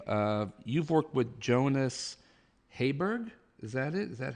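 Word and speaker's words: Jonas Jeberg: Uh, Jonas, he's he's uh Danish, so it's uh the way they say is Jonas Yubberg, but Jonas Jabberg is how I say it in in American.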